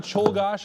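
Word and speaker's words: Czolgosz: Leon Cholgosh. And that's an acceptable pronunciation there.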